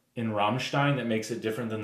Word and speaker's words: Rammstein: today to review Rammstein's, and that is how you pronounce it. I will post the link. There's a guy who teaches German on YouTube. No surprise there. It is Rammstein.